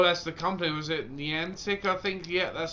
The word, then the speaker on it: Niantic: Was it Niantic, I think? Yeah, that's how you pronounce the name.